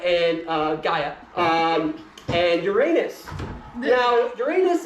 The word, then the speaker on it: Gaia: So, cover pronounced Gaia. Gaia. Thank you. We have good pagans here. Thank you. Never mind. Okay. So, Saturn, child of Gaya and uh Gaia um and Uranus.